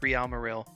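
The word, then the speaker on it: Real Marill: of people pronounce it Merill and that's even how I pronounce it but considering the name is a play on Real Madrid I'm pronouncing it real marel for for the sake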